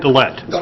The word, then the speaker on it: Dillette: This is an agreement with Scott Dellett. Am I pronouncing that? Dillette. Dillette.